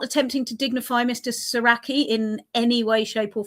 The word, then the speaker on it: Soracchi: him Soracchi, and also that we pronounce it right, because I hear a lot of people saying Soracchi. That's not it. That's a hot sauce. And yeah, so it's Soracchi.